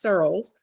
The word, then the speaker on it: Searles: The main spelling is Searles. That's how it's pronounced, Searles, Surles.